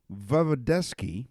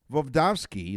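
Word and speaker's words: Voevodsky: introduced it in 1974 vovdovsky is his name because I mispronounced it the first time studied the effects of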